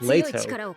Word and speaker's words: Leto: stuck out to me two of the characters mispronounced letto name one pronounce it correctly as leato so I have no